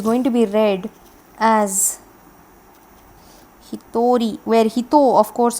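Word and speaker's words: 一人: in it is going to be read as he thorry where he thought of course is from the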